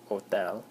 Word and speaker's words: hotel: mentioning the word o the H is silent you don't pronounce that it's just Hotel um and it means